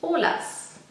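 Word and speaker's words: Olaz: but the Y is a Z, and it's pronounced Olas, at least in Germany. So everyone knows oil of Olas, which is oil of Olay or Olay.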